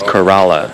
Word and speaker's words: Corolla: it's a town but locals pronounce Corolla as Kerala and right now here